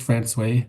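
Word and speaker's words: François: It's pronounced France by the locals.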